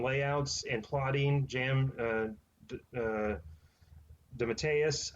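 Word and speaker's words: DeMatteis: and plotting jam uh the matteus i believe is how you say it was actually did the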